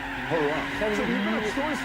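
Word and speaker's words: Huayra: It's called the Hurrah. No, it's spelled H-U-A-Y-R-A. Hurrah.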